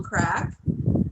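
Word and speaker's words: craic: they are a little crack and um and crack is spelled c-r-a-i-c for those of you yes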